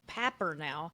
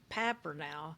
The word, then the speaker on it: Papernow: She's a world famous researcher on blended families, and her name is Patricia Papernow. Although it's paper now, it's what it looks like on paper now, but it's pronounced Papper now.